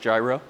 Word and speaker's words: Gyro: at a company called gyro yes it's just like the sandwich um it's pronounced gyro Jeremy thanks for having